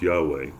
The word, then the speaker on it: Yahweh: For the Hebrew name of God is the tetra grammaran yhw routinely pronounced Yahweh derived from the verb to be and translating as I am who I am.